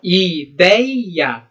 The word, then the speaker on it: ideia: Ó, ideia. A palavra ideia, ela é paroxítona. Por quê? Porque a sílaba tônica é quem? O dei.